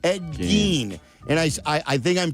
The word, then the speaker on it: Gein: How do you pronounce his last name? Ed Gein.